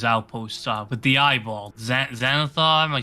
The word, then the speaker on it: Xanathar: Xanathar, am I saying it right?